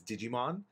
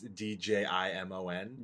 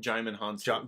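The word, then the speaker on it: Djimon Hounsou: Korath the Pursuer, who was I always want to say his name is Digimon because it's Djimon. Jaimin Hansu. Jaimin Hansu.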